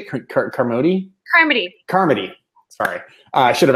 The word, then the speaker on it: Carmody: Carmody.